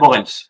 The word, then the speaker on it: Moritz: Et donc, ce soir, nous recevons Moritz, je le prononce bien. Moritz, mais c'est pas grave.